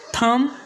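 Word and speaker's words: thumb: यानी इसे हमें लिम्ब नहीं पढ़ना है, कॉम्ब नहीं पढ़ना है, टॉम्ब नहीं पढ़ना है, बॉम्ब नहीं पढ़ना है, बल्कि लिम, कॉम, टॉम, बॉम्ब, थम, क्लाइम, इस तरह से इसे प्रोनाउंस करना है।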